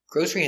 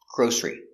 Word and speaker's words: grocery: some groceries pronunciation grocery Grocery has two pronunciations first pronunciation G Ur g o long o grow grosser grosser e grocery grocery Grocery two syes grocery stress on a first syllable grocery another pronunciation g g o grow sh gr or grer e grocery Grocery again two syllables stress on a first syllable grocery Grocery so grocery or grocery two sounds with the s Grocery or with a sh grocery both are correct now one Grocery and